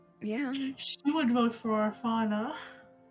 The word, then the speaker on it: Orfauna: She would vote for Orfauna. We could spell it like fauna as in like flora and fauna. True. That way it's- Orfauna. Yeah, that way it's not like orphan, just pronounced differently.